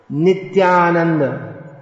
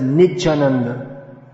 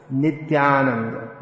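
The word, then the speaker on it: नित्यानन्द: not janadam not gennady here's a fairly common mispronunciation nityananda pronounced as nidjananda it's just easier to merge everything nithya and make it nature but nithyananda not niche it's quite common for devotees to say nit jananda you might not have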